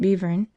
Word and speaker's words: Belvern: Upon arriving at Great Belvern, which must be pronounced Bevern, I took a trap,